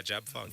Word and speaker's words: JABFUNG: Yeah, JABFUNG.